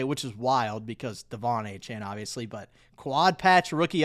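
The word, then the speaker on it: De'Von Achane: It's pronounced like Devon Achan except does not look like that's how it's pronounced.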